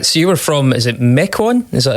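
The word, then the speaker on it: Mequon: Uh so, you were from is it Mecoin? Is that how it's pronounced? Mecoin.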